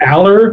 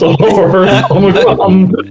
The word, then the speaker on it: Allor: I have heard people say Aller and I've been like, he happens to be a good friend of mine and it's pronounced all over.